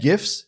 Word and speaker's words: GIF: Yes, that's a hard G. You're getting it here first. This is my 2 cents. GIF, hard G. It's not GIFs and it's not Joogle. It's GIFs and Google.